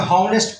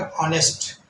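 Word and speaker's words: honest: इसको पढ़ेंगे हनेस्ट पढ़ेंगे। हनेस्ट हनेस्ट तो ये गलत हो जाएगा। इसको पढ़ेंगे ऑनेस्ट।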